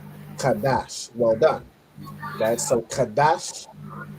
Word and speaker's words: Qadash: Kadash.